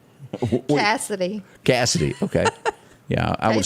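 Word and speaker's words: Cassadee: Do you pronounce that Maureen Morris? Marin Morris. And Quesadilla? Is that her name? Cassidy. Cassidy.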